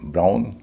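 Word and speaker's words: brown: दूसरा नियम ओ डब्ल्यू जब शब्द के बीच में होता है तो उच्चारण होता है आउ। जैसे बी आर ओ डब्ल्यू एन ब्राउन टी ओ डब्ल्यू एन टाउन सी आर ओ डब्ल्यू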